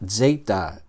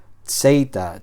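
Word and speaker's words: ζῆτα: Vale, nuevamente aquí hay una e que vamos a pronunciar como una vocal larga. Eita. Y esta letra suena como una una Z ruda. Ah, como la Z italiana. Z, Z, zeita. Zeita. Vamos a pronunciar la letra así.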